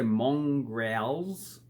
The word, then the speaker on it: mongrel: Mongrels. And first of all, how do you pronounce it? So we don't say mongrels, mongrel, mongrels. We say man. So O is pronounced as U, man.